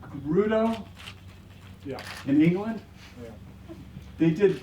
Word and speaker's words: Fegredo: in Portland and that Duncan I always say his name wrong beg beg beg Gerudo yeah in England they